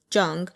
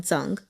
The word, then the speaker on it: Zhang: in here, it was spelled with ZH, which is pronounced like a J, Zhang. And so I think I said that a couple times before I actually switched it to Kong Zhang.